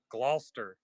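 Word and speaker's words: Gloucester: Glouster. They just completely like get rid of all the middle letters.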